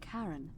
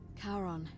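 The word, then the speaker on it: Charon: the coin you heard wasn't Karen it was c h a r as in Caron the ferryman of the Dead karon who in exchange for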